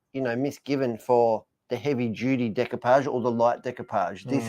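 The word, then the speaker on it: découpage: How do you pronounce that? Decoupage.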